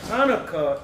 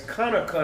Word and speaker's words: Chanukah: No, I said Hanukkah is the English way of pronouncing it. But it's Chanukah in the ancient Paleo Hebrew.